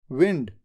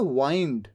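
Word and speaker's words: wind: डब्लू आई एन डी यह जो डब्लू आई एन डी है इसको दो तरीके से प्रोनाउंस किया जाता है दो अलग-अलग वर्ड्स होते हैं एक है विंड जिसका मतलब होता है हवा और एक होता है वाइंड बोलते कैसे हैं वाइंड स्पेलिंग तो सेम है वाइंड वाइंड का मतलब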